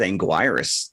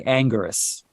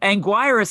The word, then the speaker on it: Anguirus: into this right now is it Angus or Anguirus well it's spelled Anguirus but I always used to say Angus well that makes me angry Anguirus is just it hurts